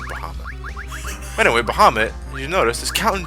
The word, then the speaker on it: Bahamut: Dragon Bahamut or Bahamut whatever I I'm pronouncing as baham that's how I I always pronoun as baham I think I think